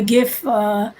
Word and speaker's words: GIF: Oh, Mel is of the GIF team. GIF like good. The hard G team.